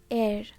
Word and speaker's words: heir: at the next word air air air without h okay h is silent air or air air